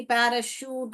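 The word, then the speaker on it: parachute: सकती हूं जैसे कि पैराशूट हो शूट श कूट नहीं बोलते हम ये देखिए पैरा शूट यहां पर क्या बोला शूट हम पैराकूट या पैराशूट नहीं बोलते हैं इसको च नहीं बोलते हैं इसको को क नहीं बोलते हम श बोलते हैं यहां पर पैराशूट ओके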